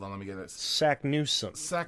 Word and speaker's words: Saknussemm: Like, she says her own name wrong. She does. Sagnussemm, doesn't she say?